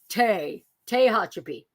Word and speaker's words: Tehachapi: Tehachapi.